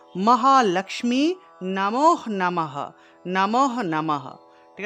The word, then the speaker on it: লক্ষ্মী: মহালক্মী আমরা তো মহালক্ষ্মী বলে ফেলি এটা লক্ষ্মী হবে না হবে লক্মী এখানে দেখুন এর নিচে একটা ম আছে তাহলে উচ্চারণটা হবে লক্মী লমী ঠিক আছে এখানে দেখুন আমি লিখে দিয়েছি ও মহা লক্মী নমহ নমহ নমহ নমহ